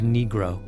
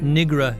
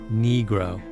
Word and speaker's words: negro: the court on the correct pronunciation of negro not Negra your honor negro another time he was